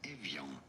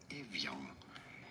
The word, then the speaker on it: Evian: In French it is said as Evian. Evian. In English, however, it is usually pronounced as Evian.